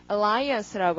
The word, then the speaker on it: alliance: alliance라고 하고요. 자, 강세 저기다 찍어주시고, alliance라는 말 참 많이 하는데, alliance 참 많이 하는데, 어디서, 그, 나토 연합군 있죠?